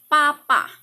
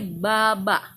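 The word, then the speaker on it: 爸爸: bahasa Mandarinnya Ayah adalah Papa bahasa Mandarin Ibu adalah mama Nah jangan menyebut Ayah sebagai babak itu tidak benar karena pengucapan dalam bahasa Mandarin harus menggunakan kata by berubah menjadi huruf P menjadi Papa ayah bahasa Mandarinnya adalah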